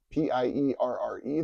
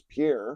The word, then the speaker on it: Pierre: He came from Pierre, South Dakota, P-I-E-R-R-E, that most national people pronounce as Pierre. It was Pierre, South Dakota.